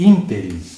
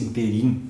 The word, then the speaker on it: ínterim: Nesse ínterim, olhem a palavra proparoxítona. E há quem diga nesse interim, como se fosse oxítono.